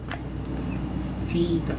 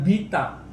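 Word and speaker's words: βήτα: Nah, yang diperhatikan ini Vita. bukan B, bukan beta, ya, tapi vita.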